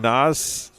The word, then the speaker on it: Nas: Nas, not Z, Nas. Okay, I will work on that. I apologize. Nas with an S, not the Z. So it's spelled with an S and it sounds like an S, so I apologize.